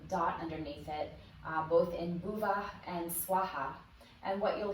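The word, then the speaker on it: bhuvaḥ: with this, is that that H sound has a little bit of an aspirated breath that comes afterwards. So we could spell this like bhuvah, swaha, and add like a little A or an Ah sound at the end. In bhuvah, it's less pronounced than in swaha. So we have Om, the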